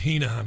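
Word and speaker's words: Heneghan: I think they pronounce it Hennigan. In Ireland, we pronounce it Heenahan, of course.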